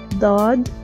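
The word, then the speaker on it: ض: a special emphasis that people have to make effort to pronounce it correctly please try to pronounce it daaad but but but by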